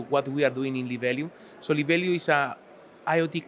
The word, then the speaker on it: Libelium: Joining me today is Antonio Jara, the executive board member and co-owner of Libelium.